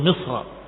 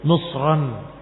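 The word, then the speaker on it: مصرًا: itu dengan kalimatnya ihbitu misran faain lakum maaltum turunlah kalian ke Mesir dan ini bacaan jumhur misran dengan Alif misran dengan Alif yang menunjukkan bahwa itu dengan tanwin bukan ihbitu Misra tapi ihbitu misran itu qaah jumhur dan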